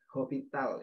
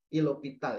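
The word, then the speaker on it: L'Hôpital: Baru disubstitusikan ya di hospital ya, atau hospital, bukan hospital ya, itu kebacanya aturan L'Hopital ya.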